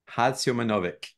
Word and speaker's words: Hadziomanovic: Hadziomanovic. Oh my God. Okay. Uh, Not too bad, like is mostly of the time American English pronunciation. Originally is Haji Osmanovic, Ah, and this Osmanovic.